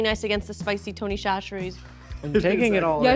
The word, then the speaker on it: Chachere: cheese is really nice against the spicy Tony Chachere's. I'm taking it all Yeah, in. hello. Not a sponsor, mean, maybe it's not bad future pizza. sponsor. Also, it turns out we've been mispronouncing it. It's Chachere.